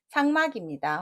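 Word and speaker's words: 삭막: 정답은 상막입니다. 혹시 색자로 읽으실 수도 있습니다.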